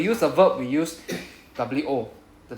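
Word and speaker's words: を: So when we use a verb, we use wo, the w particle, right? pronounced as O very small O wo which is pronounced as O.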